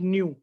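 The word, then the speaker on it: ν: That is pronounced as nu.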